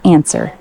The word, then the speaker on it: answer: Answer, silent W, pronounced answer.